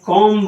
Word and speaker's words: comb: जैसे कॉम्ब हो गया, आपने पढ़ा कॉम, ये कॉम है, यह है बॉम्ब।